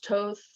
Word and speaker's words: Thoth: tarot was used by thoth t-h-o-t-h toast so everyone pronounce it um egyptian energies like